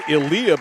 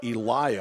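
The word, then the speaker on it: Eliya: no good rebounds out of bounds I was pronouncing it Ilah because it's spelled like that e l i y a somebody told me after the game no it's Eliah I'm a guess an angry parent no they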